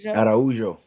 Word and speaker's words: Araujo: Araujo.